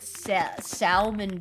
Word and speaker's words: salmon: pretty sure I said salmon too when I was younger as well and I was like why why is there an L there when it's not said well isn't caramel caramel